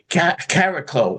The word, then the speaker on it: Chariklo: We can say caraclo which is basically the actual pronunciation. It's like a cross between a ch and a k.